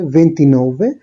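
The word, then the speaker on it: ventinove: ভেন্টিসেত্তে, 28 এর ক্ষেত্রে ভেন্তত্তো, 29 এর ক্ষেত্রে ভেন্তিনোভে। আর একটু আগে যেরকম বলেছিলাম যে প্রতিটা বেস ওয়ার্ডের ক্ষেত্রেই এদের উচ্চারণটা বা ওয়ার্ডটাই ডিফারেন্ট থাকে।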